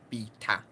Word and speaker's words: beta: Also, I'm saying it as beta because I'm in the UK. I think Americans say beta, don't they? But I think in English, UK English pronunciation, beta is actually correct, as in beta, not beta.